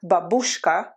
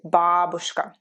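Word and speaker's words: бабушка: sound like in babushka please memorize the stress correctly not babushka it's important to memorize the stress right if you learn it wrong then your mind will always wonder which way you need to pronounce the stress so i know for some reason people say in america at least people say babushka but matryoshka yes but babushka we say babushka you can practice this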